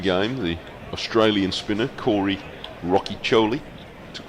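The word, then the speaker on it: Rocchiccioli: the Australian spinner Corey Rocky Choli. Took 5 wickets in the second innings against Somerset. Well pronounced, by the way. It's very Italian sounding.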